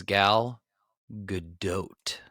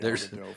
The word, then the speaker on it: Gal Gadot: The correct pronunciation is Gal Gadot. We're both wrong? Yes, correct. We are both wrong. Okay. There's a D in there? It's like doubt.